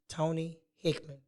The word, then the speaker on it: Tony Hickman: one and only miss Tony Hickman did I say it right yes you did yeah you're right I